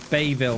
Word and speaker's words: Bayville: Bayvilla or Ville? Bayville must probably, innit? Don't pronounce the E, bammers. Why not? I want to. I don't know. You just don't.